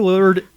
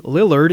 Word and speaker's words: Lillard: ] love that line Matthew lard is like I keep mispronouncing his name Matthew Lillard excuse me everybody he